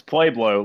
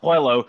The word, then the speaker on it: Pueblo: playblow like you know everyone knows how to pronounce pueblo and guns like it's oilo like no gun it's not polo there's a b in the goddamn name he's like yeah it's